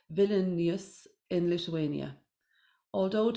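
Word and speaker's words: Vilnius: to see now all right make sure I'm pronouncing it right villain yes in Lithuania although it is perfectly imperfect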